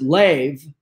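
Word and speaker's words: לב: And it says, A, the word heart in the Bible from the Hebrew, and it says L-E-B, which we pronounce lev, big enough as is, excellent.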